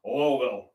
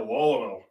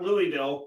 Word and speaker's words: Louisville: So we're and I pronounce it like the Kentuckians, Lowell. I went to Lowell, not Louisville, Lowell. Get it right.